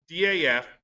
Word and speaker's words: DAF: so cool was this xg which is the daf pronounced doth i was told and that's a european uh